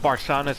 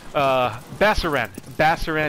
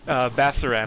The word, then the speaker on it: Basaran: I really wanted to go check out Barsana's cave. Basaran is his name. I'm pretty sure I've been saying his name wrong the whole time in some of the other videos. Basaran, I want to go check out his cave.